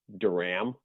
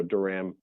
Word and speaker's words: Dorgam: jump in and say there is a silent g in my name that is silent so my name is pronounced daram daram so it's like the it's like the 80s band duran duran just without an n but for an m so duram a